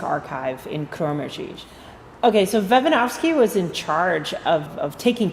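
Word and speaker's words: Vejvanovský: program of moravian music we get to practice some of our czech pronunciation so one of the composers is named pavel vevanovsky so you might want to say that to yourself vevanovsky it's a great name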